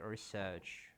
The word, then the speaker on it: research: Okay, the right pronunciation is research.